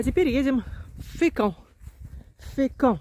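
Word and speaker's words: Fécamp: Фекон произносится по французски, а по-русски, наверное, говорят фекан.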